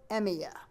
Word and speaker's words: Emiya: Shiro Emiya. No way. What? And it just changed. Yeah? Could you spell that?